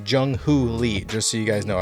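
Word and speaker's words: Jung Hoo Lee: of Korea, Jung-Ho Lee, which I was saying wrong. I was saying Young. Nope, it's Jung-Ho Lee, just so you guys know.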